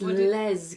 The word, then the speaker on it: Lez: told me hundred times Les come together it's not lets it's Les come sounded a bit like let even if it was Les come together that's why I paused